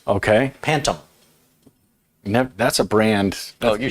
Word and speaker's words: Pantum: It's made by a company called Pantum. What? Pantum. Spell it. Pan, like a cooking pan. Okay. TUM, like Tums. Okay. Pantum.